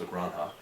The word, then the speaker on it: La Granja: La Granja, as I've been corrected many times, La Granja is, I believe, the proper pronunciation.